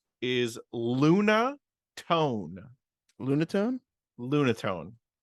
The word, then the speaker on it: Lunatone: name is Luna tone Lunatone Lunatone lunaten nothing uh lunatic I don't think it's lunaten no I'm just uh I don't think the E is silent I think it's Luna tone is it just spelled